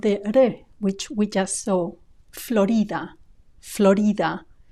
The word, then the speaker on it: Florida: which we just so Florida Florida notice also the stress it's not stressed on the o the way it is in English but on the I Florida Florida with that